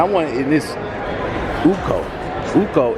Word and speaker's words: Uko: Uko is the proper pronunciation, correct? Is it Uku? Uku. There you go. See, I'm gonna get it. I want to say Uku, but for everybody watching, we're gonna keep it Uko.